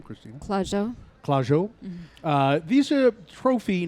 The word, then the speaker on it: Clusiau: Clusiau.